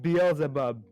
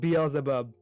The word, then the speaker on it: Beelzebub: yeah raven it i i just googled it it's pronounced beelzebub the the demon is called beelzebub in the mythology off